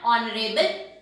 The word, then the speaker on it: honorable: Here H is silent and we have written an in front of them. An R, an honest man, an honorable person.